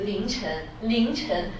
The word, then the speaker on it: 凌晨: If we say this word, for example, this is 凌晨, almost just the pronunciation just like 零, right?